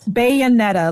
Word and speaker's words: Bayonetta: You got to spell it for me. Like a bayonet? Bayonetta.